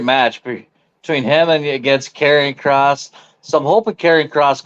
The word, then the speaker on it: Karrion Kross: It's Karrion Kross, but I think they call it Killer Cross.